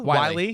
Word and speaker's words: Whyle: I think I'm saying it right. Wiley. Yep. Wiley from Cincinnati.